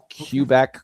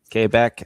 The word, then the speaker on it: Quebec: They pronounce it like it's a K. I I just find that amusing, so I do it. It's hilarious. Yeah. Cubec. Quebec. Quebec as they say.